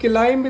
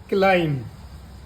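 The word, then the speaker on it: climb: है या फिर आप सी एल आई एम बी अब इसको आप क्लाइम नहीं पढ़ेंगे क्या पढ़ेंगे क्लाइम एम के बाद बी आने पर साइलेंट हो जाता है इसकी आवाज नहीं आएगी आप यही तक पढ़ोगे क्लाइम क्लाइम नहीं पढ़ना है क्लाइम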